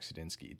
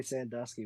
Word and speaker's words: Sudinsky: saloni cam Khaled and sedinski do we is that pronounced correct yeah you got it all right right on okay as long as you don't call me Sandusky we'll be fine it's uh it's been